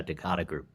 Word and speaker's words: Decada Group: Is it Decada Group? Is that how we pronounce it, Chase? Yeah, you got it, Kevin. Yeah, Decada Group.